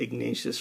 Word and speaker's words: Ignatius: because I realized that ignacious rhymes with everything it's like ignacious courageous loquacious so he can be